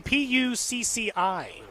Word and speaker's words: Pucci: How would you pronounce the name? Pucci? Be careful. Like Gucci, but yes. Well, Bingo. That is correct.